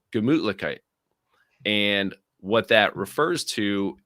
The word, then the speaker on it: Gemütlichkeit: But Gemütlichkeit. Um, it's almost like Gesundheit, like a sneezing here.